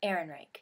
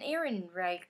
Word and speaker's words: Ehrenreich: Ehrenreich. Pretty sure that's how you say it. That's how the website said that you said it, so.